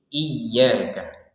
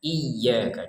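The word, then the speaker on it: إِيَّاكَ: Di sini ditekan karena ada tasydid. Iyaka. Iyaka. Jangan sekedar iyaka. Iyaka. Kan tidak ada tekanannya. Padahal di sini ada tasdid. Jadi harus ditekan iyaka.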